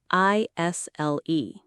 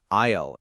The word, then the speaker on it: isle: I s l e right isle. And the IPA is isle just like an isle.